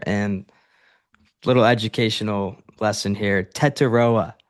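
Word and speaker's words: Tetairoa: Tetaroa is his name, and I did see a press conference where he said that he doesn't like being called Tet.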